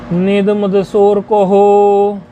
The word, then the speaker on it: नेदमदसोरकोः: निद मद सोर को हो, ये कैसे है? न इदम, न इदम है ना, नेदम, न इदम, इस प्रकार है ना। नेद मदसो अकोहो, ऐसे इसका उच्चारण है।